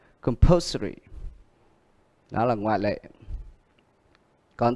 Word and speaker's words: compulsory: Còn cái này, bởi vì ở đây có 3-4 âm tiết, nhưng ở đây thì ngoại lệ, âm ary này nó lại được nhấn ở âm poor. Compulsory.